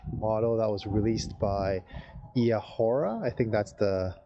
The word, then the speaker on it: Eahora: that was released by Eahora. I think that's how I pronounce the company name. I think it's E-Ahora is what they said that their name should be called.